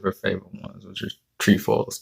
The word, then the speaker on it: Trefoils: That's why I got outside and got her 2 boxes of her favorite ones, which is trefoils. Trefoils is the actual pronunciation.